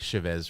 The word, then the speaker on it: Chavez: It's like Chavez ravine as opposed to uh I don't even know how you say it wrong now. Chavez or Chavez, I guess. Chavez.